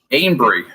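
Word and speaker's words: Anbry: tell it it's aver it looks like it's avery but ain't someone but angry thomas it's like ambry yeah a-n-b-r-y that's right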